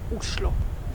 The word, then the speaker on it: Oslo: of Norway and actually in Norwegian the right way to pronounce the name of the capital is uslo Oslo is a great